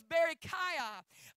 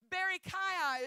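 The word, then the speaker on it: Berechiah: asap's father's name was Barry Kaya Barry Kaya if I'm not mistaken is the way that it's pronounced and his name means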